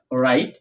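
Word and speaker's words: wrong: ডাব এর পর আর থাকলে ডাব এর পর ডাব এর পর আর থাকলে ডাব সাইলেন্ট থাকবে।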